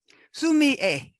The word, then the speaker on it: sumi-e: a week off so sue me a that's how they say the s-u-m a okay the e at the end is pronounced a assuming is just the